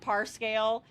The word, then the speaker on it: Parscale: tax dollars funding PragerU propaganda trucks, and Brad Parscale is that how you say his name?